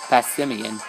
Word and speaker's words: Passimian: Oh hey, we actually pronounced it right that time. Passimian.